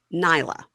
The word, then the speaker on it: Nayla: Now, Tia is at a dance store with her daughter, Nyla. But it's spelled Nayla, but she says Nyla.